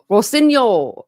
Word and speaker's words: Rossignol: Rawson signal, maybe? Rossignol. That's what she said.